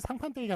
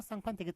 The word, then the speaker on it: 상판떼기: 쌍판떼기 틀리다고 말씀드렸죠. 상판떼기만 맞다. 그래서 본새하고 같이 외워주시라. 예, 상판떼기, 본새, 예, 둘 다 된 소리로 발음해야 될 것 같지만 예사 소리가 맞는 표준어인 그런 예들이 되겠습니다. 자, 그 다음에 이번엔 서와 석이 나왔네요.